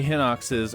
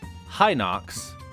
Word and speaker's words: Hinox: of the word hennox you might think I'm pronouncing the word weird because hinox can be properly pronounced three different ways High nox hinox which is how I say it and Walter White I